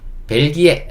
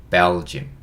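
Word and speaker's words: Belgium: " 벨기 에 " 라고 발음 하면 알아듣지 못 할 거 예요 . " 벨 ." 그렇게 말씀 하시면 이해 하실 겁 니다 . " 벨줌 ."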